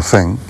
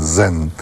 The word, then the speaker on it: zen: no zen es los Los japoneses pronuncian zen de la z se pronuncia así en japonés nosotros pronunciamos zen además los andaluces nos resulta muy fácil zen pero esto viene del